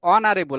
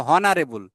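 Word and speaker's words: honorable: জনাব কামরুল গ্রামের মধ্যে একজন সম্মানিত ব্যক্তিত্ব অনারেবল আমরা কিন্তু বলি না হনারেবল অনারেবল তাই ও থেকে হচ্ছে ভাওলের উচ্চারণ থেকে কাজেই এখানে এন হচ্ছে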